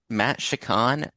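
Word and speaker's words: Matt Shakman: And then uh um so then I was thinking uh uh uh Matt Shakan, I believe that's how you say it.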